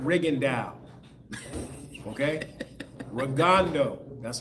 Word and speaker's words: Rigondeaux: Rigondeaux. That's how you pronounce it.